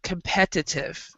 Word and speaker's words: competitive: And also the word competitive. Competitive is how we pronounce it.